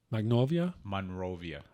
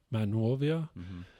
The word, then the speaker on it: Monrovia: Magnolia? Monrovia. Did I pronounce that right?